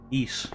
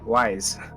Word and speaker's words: Ys: East. YS. Oh, why? Yeah, wise. No, it's pronounced East.